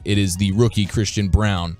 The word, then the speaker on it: Braun: is the rookie Christian Brown even though it looks like Braun when you when you see the spelling of it yeah pronounce brown but the Kansas right yeah